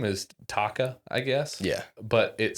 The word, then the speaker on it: Taka: But I he the way that they pronounce it sounds like almost Tucker, but it's Taka.